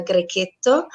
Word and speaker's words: Grechetto: people are used to call, but the perfect pronunciation is a Grechetto, and it's a very fresh and fruity, very mineral wine, and perfect for antipasto or great with any kind of bruschetta.